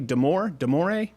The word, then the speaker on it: Damore: Am I pronouncing his last name correctly? Damore? Yeah, Damore.